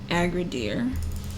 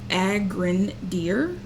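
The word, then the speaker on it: Agrandir: so this is actually nice so let's download aggra deer and use it as a contender and maybe I'm pronouncing this wrong agren deer Ager who knows it's fine a G all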